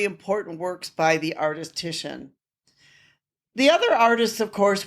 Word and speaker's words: Titian: And I should point out that some people may actually pronounce it titanium because the way it's the way that it's spelled, but it is Titian is his name.